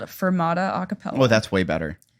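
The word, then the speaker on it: Furmata: name of mine worse it's fermata but it's spelled with the U like f-u-r because the mascot is a husky so then it's like a fur Mata which like doesn't really work oh unless you know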